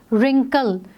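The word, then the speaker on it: wrinkle: रिंकल, रिंकल को pronounce करते वक्त हम आर की साउंड निकाल रहे हैं, रिंकल, ठीक है, तो आर की साउंड आ रही है, तो सो डब्ल्यू is silent hair.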